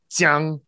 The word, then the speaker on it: jiang: Once you know exactly how those are pronounced, and that jiang has the tongue against the back of your bottom teeth, and that there's an E sound in there, that zhang, where your tongue is pulled back and there's no E sound.